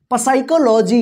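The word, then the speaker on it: psychology: चलिए यहां पे देखिए साइलेंट पी यानी पी साइलेंट वाला वर्ड्स को यहां पे हम देखेंगे ठीक है ना तो देखिए यहां पे पी एस वाई सी एच ओ एल ओ जी वाई इसको क्या पढ़ेंगे साइकोलॉजी इसको पढ़ेंगे साइकोलॉजी क्या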